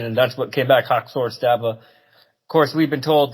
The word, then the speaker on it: Haxör Stava: Is that how to pronounce it? That is how to pronounce it, Haxör Stava.